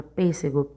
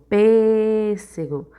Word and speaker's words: pêssego: palavra também é paroxítona a palavra pêssego Quando você vai chamar palavra pêssego pêssego Observe aqui o PIS ele é a tônica e o PC é a antepenúltima sílaba da palavra então ele é proparoxítona anel Observe anel Demoramos